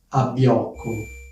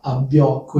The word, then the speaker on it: abbiocco: e divertente che è abbiocco. Probabilmente questa parola non la conoscete perché comunque è una parola piuttosto informale, colloquiale, quindi forse non l'avete mai sentita. Abbiocco è un sostantivo maschile, si scrive con 2B e di solito viene